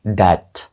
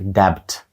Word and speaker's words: debt: ви його вимовите that це слово правильно вимовляється як de Так там є літера B тобто мало б читатися як debt але B не вимовляється вона глуха Отже правильною